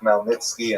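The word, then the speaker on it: Chmielnicki: You may have seen his name spelled C H M E I L uh you know something like Nitski something like that. That's uh just the Polish spelling. The pronunciation is definitely Melnitzki and this is the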